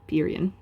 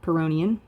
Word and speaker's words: Pyrrhonian: It's actually pronounced a couple of different ways. I'm going to go with Pyrrhian. So you have a Pyrrhian, or Pyrrhonian, or Pyrrhian. I've heard like almost like Puritan kind of, but just so that